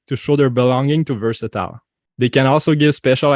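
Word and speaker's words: VRSTL: the first domino fell v r s t l pronounced versatile is a digital fashion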